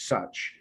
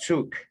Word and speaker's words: such: The pronunciation is such, not suk.